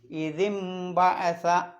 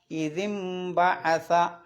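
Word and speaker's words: إِذِ انبَعَثَ: പിന്നെ നൂനിൻ്റെ മുകളിൽ ഒരു മീമ് കാണാം, അത് ആ നൂനിൻ്റെ ശബ്ദത്തെ മീമാക്കി മറിക്കണം.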